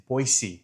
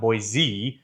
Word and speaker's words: Boise: capital of Idaho, and it's Boyisey, not boy. Boy, boy, like boy. And then you're seeing something. Boyisey.